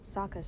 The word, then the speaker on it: Sokka: Did she run away when My the name's firebenders Sokka. came? Rhymes with Aka and Waka waka.